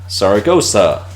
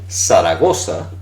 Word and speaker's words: Zaragoza: And that's the city of Zaragoza, or Zaragoza, Zaragoza. That's what we have there. So, Seseo is pronouncing everything as if it were an S.